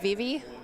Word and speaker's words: Vivi: I think I really like Vivi.